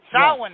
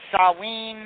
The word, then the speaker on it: Samhain: basically sin it's the old festival of sin sin is is uh the correct pronunciation. It is I've I've heard it pronounced sawin and other things, but sawin is what